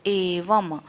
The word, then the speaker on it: एवं: एवं व के ऊपर जो डॉट है उसको हम म का उच्चारण करेंगे, तो एवं, एवं माने एवं, सतत, सतत पूरा बोलना, त पूरा बोलना, तो सतत युक्ता।